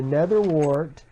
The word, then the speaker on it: nether wart: Yes, I finally pronounced it correctly. The nether wart.